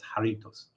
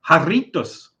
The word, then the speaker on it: Jarritos: Except in Spanish, that J is pronounced like a H, so it's Jarritos. And you roll the R. Jarritos.